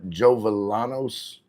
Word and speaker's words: Jovellanos: Paloma Jovellanos. Lynn Jovellanos. Hovel. How do you say it? Jovellanos in Tagalog. Jovellanos.